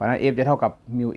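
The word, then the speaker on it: μ: ว่า อ่าน ว่า มิว 4 มิล นะ ครับ มิ้ว มิว อ่าน ว่า มิว หมอ ตัด นิ้ว ก็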